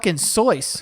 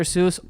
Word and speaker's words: Seuss: this podcast is that you've been saying dr. Seuss wrong all the time and by the way if you're one of the people out there that knew that before going into this and you're like oh I knew it was sois you